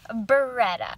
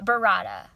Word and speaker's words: burrata: using for this pizza we have mozzarella and beretta burrata i don't know how to pronounce it burrata it looks like burratta first order of